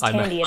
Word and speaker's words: Thandie: didn't even I apologize if I've said her name wrong. No I didn't even I didn't even notice but uh yeah her name's Thandie.